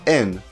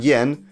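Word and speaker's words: 円: use the Japanese yen which is pronounced in not yen when used in Japanese for example 100 yen would be yaku n not yaku yen the other general term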